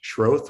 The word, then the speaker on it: Schroth: Just for the record, my last name is pronounced Schroth with a long O, but it's been mispronounced many times, so no worries at all.